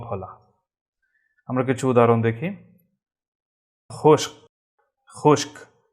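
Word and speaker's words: खुश्क: খুশক, খুশক, খর নিচে ফুটা থাকাতে এর উচ্চারণটা খার মতো হবে, আরবি খা গলা থেকে আসবে।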